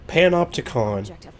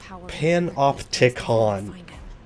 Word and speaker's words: panopticon: how you pronounce it panopticon pan off tick on okay pan up i